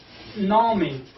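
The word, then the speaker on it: نامی: Then the pronunciation of this and word, this is Nami. This is Na. Then this is me.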